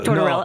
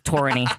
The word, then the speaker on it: Tortorella: So so coach T cuz I always struggle saying his Tortorella. Yeah. No. Tortorella. Oh. No. Tortorella. Tortorella. No, you always say it wrong. It's Tortorella.